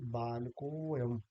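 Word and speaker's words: बालकोऽयम्: तो ये जो अयम है, इसका जब हम इसको कहेंगे बालकोयम, तो हम अ यानी ये अ जो है इसका लोप हो जाएगा और ये हो जाएगा बालकोयम।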